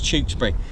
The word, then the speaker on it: Tewkesbury: RJ what watching from Tewkesbury that's the way pronounce it with the CH Tewksbury I used to live there I used to live in Tewkesbury God I remember the uh I've done a